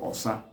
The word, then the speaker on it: osa: Then in Igbo it's called Osa. Or-say-a. That's how Osa is spelled in Igbo.